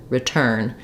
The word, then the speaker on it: return: first syllable is unstressed rather than return I have R return this is where our I is a short reduced vowel in an unstressed syllable so it's a main